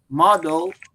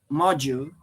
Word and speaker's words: module: correct at the time you still have to say model I I I should say module because module is related